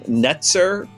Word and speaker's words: netzer: can get this right a branch is um netzer kind of rhymes with Nazarene Jesus of nazareth's and